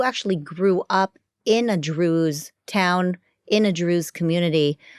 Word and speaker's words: Druze: it like to be Drews what do you believe in by the way it sounds like Jews but it's not Jews it's Drews right it Rhymes and you speak Arabic